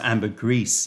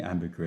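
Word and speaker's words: ambergris: know you know George the poop oh it's pronounced Amber grease okay well yeah I was going Amber GRE yeah it's close enough um right favorite tea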